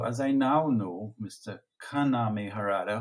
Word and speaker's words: Kaname: I now know Mr kaname har whose name I've only been pronouncing incorrectly for the last seven years I've been seeing the man's name as kenami and if my family